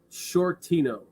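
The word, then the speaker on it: Sciortino: call you shorty Les my name is short Tino so Mr Shorty is spelled half of my last name which is s-c-i-o-r-t-i-n-o get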